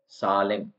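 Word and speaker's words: solemn: ही आएगा ठीक है सालेम सालेम का मतलब होता है गंभीर सालेम मतलब होता है गंभीर इसमें भी हमको एन का साउंड नहीं बोलना है नेक्स्ट है पी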